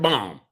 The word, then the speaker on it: balm: __ ] needs lip balm this about lip balm the L is silent damn y [ __